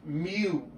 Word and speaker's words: mu: That's actually pronounced mu.